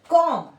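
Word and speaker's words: comb: पर आपको बस ये याद रखना है कि एम के जस्ट बाद जहां भी बी आ रहा है उसको हमें प्रोनाउंस नहीं करना है। कॉम कॉम मतलब जो जिससे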